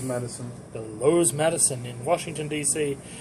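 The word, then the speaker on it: Loews: this hotel which is the how do I pronounce it Rose Madison the Lowe's Madison in Washington DC it's wonderful uh for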